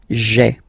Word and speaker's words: j'ai: doesn't sound that beautiful, so we tend to take this e away, okay, so that you get this sound j'ai, j'ai, okay. So j apostrophe ai. Remember, when you combine this ai, you get the e sound, okay.